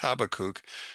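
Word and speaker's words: Habakkuk: Now as the prophet Habach or Habakuk which is the way it should be pronounced Habakuk says in 214 for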